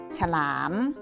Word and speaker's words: ฉลาม: นามอร์ หนาม อ่าน ว่า ว่า สนาม ฉลาม มี อักษร สิ่ง นำ สะกด แต่ ถ้า ชอบ อะ อะ ฉฉ หอ รอ อามอร์ หลาม อ่าน ว่า ว่า ฉลาม ตลาด มี อักษร ตอเต่า